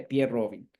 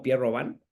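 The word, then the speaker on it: Pierre Robin: alteraciones la secuencia de pier Robin la la van a escuchar también como pier roban Pero bueno es es lo mismo nada más son hay diferencias en la en cómo lo pronuncian algunos autores entonces en esta secuencia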